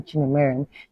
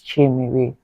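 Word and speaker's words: Chiemere: You're not going to call me Chinemere, no, it's Chimere, literally Chi-E-Mere, right?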